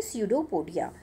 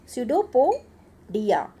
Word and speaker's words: pseudopodia: स्यूडो SEUDOPO, स्यूडोपोडिया DIA. Okay, तो spelling इसकी थोड़ी लंबी है, इसको ढंग से याद रखना. पी साइलेंट है इसके अंदर, लेकिन पी लगाना बहुत ज़रूरी है.